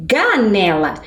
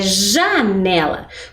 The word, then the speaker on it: janela: letra g Pois é mas se eu troco o J pelo G eu não tenho ja eu tenho ganela e a gente não está falando ganela né não não é correto é janela portanto J com a